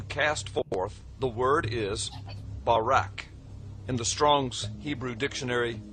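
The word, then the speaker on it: ברק: the Hebrew word is barak. So lightning, or a flash of light, in Hebrew is pronounced Barak or Barak.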